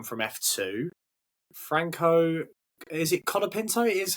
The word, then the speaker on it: Colapinto: Someone else who's come from F2, Franco, is it Colapinto? It is how you spell it.